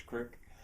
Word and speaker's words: creek: spell it K R I K, that's creek, or K R Y K, that's Creek. Uh, and in Roaring Spring, I've I've made it a bit of a study to see which way people pronounce it.